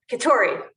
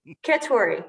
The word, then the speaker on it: Keturi: in in your name i like the emphasis on kitauri keturi katori but honestly i don't